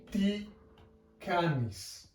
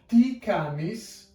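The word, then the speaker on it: τι κάνεις: Now this is pronounced ti canis. And we have a little semicolon at the end, which is the Greek question mark. So all in all, that would be ti canis, and that means how are you?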